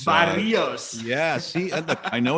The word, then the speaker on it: Barrios: Well, I'm going to give you an A for attempting to roll your R's when you said Barrios, because Barrios.